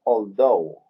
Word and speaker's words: although: Debemos recordar que la TH se pronuncia como una Z española, ¿cierto? En este caso es un poquito más como una D muy suave, ¿cierto? Yo creí que era also. Although, sí. Although. Generalmente la TH se pronuncia como una Z. En este caso yo diría que se pronuncia más como una D muy suave, although.